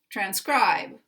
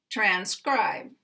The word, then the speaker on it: transcribe: later a later syllable so here we have the primary stress on the second syllable and we have the secondary stress on the first syllable transcribe transcribe these two have full